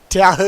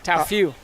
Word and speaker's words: Tao Fu: Tao, yeah. Tao Fu. That's how you pronounce it.